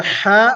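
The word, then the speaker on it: ح: we have here is the letter hat which is pronounced using the middle of the throat it is hard for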